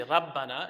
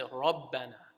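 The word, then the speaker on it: ربنا: You don't say rabbana, you say rabbana, right?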